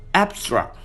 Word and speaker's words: abstract: For example, abstract, adjective and noun. The stress is placed in the first syllable. Abstract, verb. The stress is placed in the second syllable.